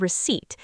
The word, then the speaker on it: receipt: Yes, I have my receipt right here. Excellent. And good pronunciation on receipt. The P is silent, which confuses many people.